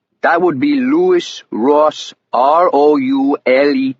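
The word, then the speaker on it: Roulet: "That would be Lewis Ross, R O U L E T." He spelled it and I wrote it down on a legal pad. Almost like the spinning wheel, but you pronounce it roule, he said.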